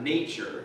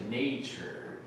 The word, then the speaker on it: nature: Um, this word is pronounced nature. Everybody say nature. Nature. Yeah, I know the the it's weird the adjective is natural, the short a sound, but anyway, research shows